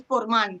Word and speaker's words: Portman: Perdón que me interrumpa, es que la forma de pronunciar Portman, ya que, o sea, es que mi padre escribió también un libro sobre este pueblo, es Portman, que viene de Portus Magnus. Y no viene de Portman de Puerto de Hombres, sino de Portman de Portus Magnus. Entonces hay que pronunciarlo con el acento agudo.